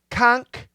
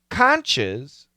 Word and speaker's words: conch: If we say conch with a K pronunciation, the plural is conchs. We just add an S. Interestingly, if we say conches, C-O-N-C-H, same spelling, but